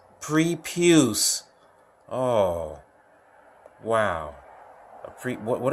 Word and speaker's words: prepuce: that what is that I pronounce this prepuce oh wow freak what